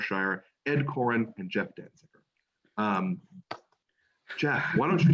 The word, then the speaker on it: Danziger: decide what things meant they had trouble pronouncing my last name danziger and so they it came out done jizzer or something like that and they finally decided